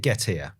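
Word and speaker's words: Getir: Is it Gettier? As in get here, I'm hungry.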